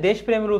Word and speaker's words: দেশপ্রেম: দেখো এখানে দেশপ্রেমের উচ্চারণটা দেখো, এই যে যার সঙ্গে র ফলা থাকবে সে বর্ণটা হবে দ্বিত্ব। কার সঙ্গে আছে? পয়ের সঙ্গে। তাহলে পটা কি হবে বলো তো? দুইবার হবে। দেশপ্রেম হবে, কি হবে?